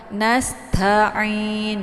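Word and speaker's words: نَسْتَعِينُ: Nasta, jangan ta ya, ada yang baca ta gitu. Nasta'in, jadi jangan dihentak ya bentuk ta-nya. Nasta'in.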